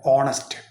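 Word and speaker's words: honest: അല്ലേ ചേർക്കേണ്ടത് പക്ഷേ അവിടെ എച്ച് സൈലന്റ് ആണ് സൗണ്ടിൽ നമ്മൾ ഹോണസ്റ്റ് ശ്രദ്ധിക്കണം ആ വാക്ക് ഒരിക്കലും പിന്നെ എച്ചിന്റെ ഉച്ചാരണം കൂട്ടി കണ്ട് ഹോണസ്റ്റ് എന്ന് ഉച്ചരിക്കാൻ പാടില്ല പകരം എച്ച് ഇല്ലാതെ ഓ ന്റെ സൗണ്ട് ആണ് അവിടെ ആദ്യം വരുക ഹോണസ്റ്റ് അതുകൊണ്ട് ആൻ ഹോണസ്റ്റ് വുമൺ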